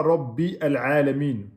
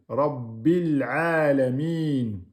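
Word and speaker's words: رب العالمين: On dit pas Rabbi al-Alamin. Vous voyez, le A ici, là, on ne le prononce pas.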